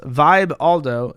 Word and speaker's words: Vibaldo: sex product the vibaldo the vibaldo pronounced Vibe Aldo doesn't just include your